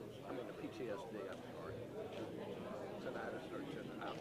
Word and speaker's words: tinnitus: And the guy says, how are your tinnitus? I said, we did that 3 times. He said, are you saying tinnitus? And I said, it's pronounced tinnitus.